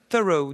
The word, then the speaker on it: Thoreau: fétiches et louis david thoreau alors moi je vais le prononcé à la française qui effectivement est sorti le second volume du journal de henry david thoreau aux éditions de la